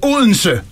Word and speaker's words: Odense: You really pronounce it Odense.